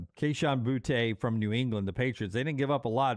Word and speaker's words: Boutte: Is it I mean, he played at LSU, so I thought Boutte on the end. Boutte. Kayshon Boutte. I don't think it's Booty like the Booty Brothers, Josh and General and all them. Kayshon Boutte from New England, the Patriots.